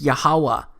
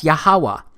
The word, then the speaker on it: Yahuwah: H it's pronounced as yahuwah because it turns out that the language was so simple back then that it vocalized each consonant with an AA sound without specifically marking that sound between consonants so this yhw H